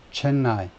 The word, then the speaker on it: Chennai: 그래서 이거 자꾸 제가 발음을 엉터리로 하는데, 이게 그래서 Chennai, 영어식 발음으로는 뒤쪽 실러브로, 뒤쪽 음절에 액센트가 있네요. Chennai가 아니고 Chennai. 인도식 발음은 Chennai일지 몰라도 영어식 발음은 원래 Chennai, 뒤쪽에 액센트가 있네요.